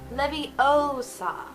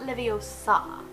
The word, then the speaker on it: Leviosa: to levitate something and as hermione says it's Leviosa not nivi Osama Petrificus Totalus this is